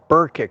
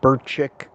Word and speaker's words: Burkick: But I didn't know if that K may have had to be pronounced like Burchik, because I think in some Slovakian languages, the K's come out like a CH.